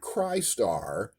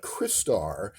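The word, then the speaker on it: Crystar: How it is that you can pronounce crystal correctly and yet not into it that a clearly crystalline uh action figure a trans beautiful translucent crystalline action figure is named not Kryar but Chrisar because you're about to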